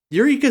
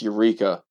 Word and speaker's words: Eureka: if i remember correctly it's not pronounced eureka it probably isn't your eureka no it's more like erica right you're okay but